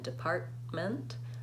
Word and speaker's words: department: Treatment, I'm releasing right into the M, and department, I'm releasing right into the M.